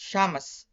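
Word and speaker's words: شمس: For the initial Shin we have is sun, which is pronounced Shamas.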